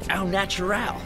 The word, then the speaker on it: au naturel: That, my friend, was au naturel. With the accent on the ow.